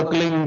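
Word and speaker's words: क्लीं: ही मात्रा और बिंदी, उसका उच्चारण होगा क्लीन गा। गा की ध्वनि निकलेगी पीछे।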